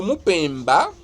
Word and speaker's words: Mupemba: Le Mupemba, avec l'accent tonique grave donc, celui qui n'est